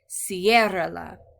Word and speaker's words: ciérrala: So we'll put that accent there to keep that emphasis on that first syllable and not, we don't want to change it to ciérrala. Instead we say ciérrala with the stress on the first syllable.